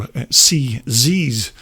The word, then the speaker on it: CZ: Now, back in the day, these CZs, or CZs, as I've heard that you pronounce them over there in the States, but originally these would